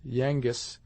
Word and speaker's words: Yengeese: instead of English, and there is a close conformity of sound between Anglish and Yengeese, more especially if the latter word, as was probably the case, be pronounced short. The transition from Yengeese, thus pronounced, to Yankees is quite easy. If the former is pronounced Yangis, it is almost identical with Yankees, and Indian words have